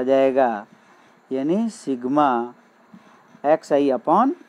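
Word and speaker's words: sigma: है कि यहाँ पे सिग्मा is letter A Greek alphabet, it is pronounced as सिग्मा। देखो मैंने बताया था इसको सिग्मा बोला जाता है, यानी ये चिन्ह होता है, इसको क्या बोलते हैं सिग्मा, है सिग्मा।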